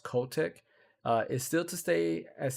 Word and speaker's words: Kotick: Bobby, I believe his name is pronounced Kotick, is still to stay